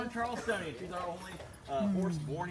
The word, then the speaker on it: Charleston: Uh like it's not Charleston, it's Charleston. They elongate all the vowels.